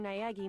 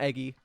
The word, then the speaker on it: Naegi: Naegi more than once, for Naegi? example. Is that how you say it? No, it's not Eggy. Not Eggy forever.